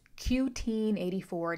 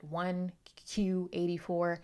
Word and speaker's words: 1Q84: Yes, it is pronounced Q-Teen 84, not 1Q84. Again, a play on 1984 by George Orwell.